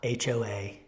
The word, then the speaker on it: Hoa: H-O-A is his first name, pronounced Hoa.